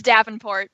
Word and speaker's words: Davenport: Just to make sure, am I pronouncing that correctly? It's Davenport, but it's fine.